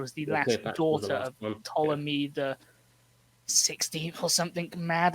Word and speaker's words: Ptolemy: time and it's pronounced ptolemy not patolomy like some was trying to tell me at uni ptolemy here's simon like pterodactyl which pretty sure is the example i gave to him um so one person